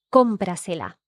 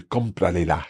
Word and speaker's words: cómprasela: So we would replace that le for se. Mhm. Cómprasela. Cómprasela. So you can hear it runs off the tongue much more easily. Yes. Cómprasela, as opposed to cómpralela.